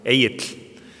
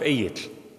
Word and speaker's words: Egill: Icelandic names are hard to pronounce, I know. Egill.